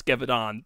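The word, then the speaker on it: Gévaudan: what how to pronounce gavidon before i i actually said it because i am terrible at french frontiers but g is a j and the n doesn't exist javadon yeah yes all right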